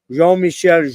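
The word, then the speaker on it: Jean-Michel: man je Michelle J actually it's from a Frenchman it's prod it's pronounced je Michelle are so there you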